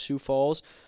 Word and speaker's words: Sioux Falls: I think I'm pronouncing that right. I think it's just Sioux Falls.